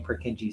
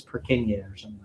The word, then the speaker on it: Purkinje: and also I kind of think the name purkinje sounds kind of cool so I like saying it but actually that's not the way that you pronounce his name it's perk in years he was a very prolific anatomist so there